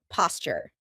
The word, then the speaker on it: posture: Grace used to be a dancer, so she has wonderful posture. Notice how I pronounce it? Posture. That's because a T and a Y sound together make a CH sound, like in Tuesday and tuna.